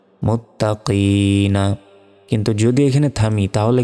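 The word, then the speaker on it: المتقين: তো মাদের অক্ষরের পরে থামলে 3 সেকেন্ড টেনে পড়তে হয়, এবং যেখানে থামবো সেই শেষ অক্ষরে একটি সাকিন দিয়ে উচ্চারণ করতে হয়। উচ্চারণটা হবে মুত্তাকিন, হুদাল্লিল মুত্তাকিন।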